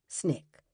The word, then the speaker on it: SNCC: SCLC, and the Student Nonviolent Coordinating Committee, SNCC, pronounced SNCC.